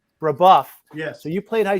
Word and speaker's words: Brebeuf: I'm going to pronounce it wrong. Was it Brebeuf? Brebeuf.